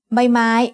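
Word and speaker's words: ใบไม้: The third consonant you'll learn today is by my means leaf as the initial consonant of a syllable makes a sound b like the b in bucket.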